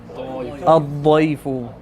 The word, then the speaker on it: ضيف: Dad. We need that hard dah. Ad-dayfu. Yes. Should be difficult to pronounce, and then that's when you know you're saying it right.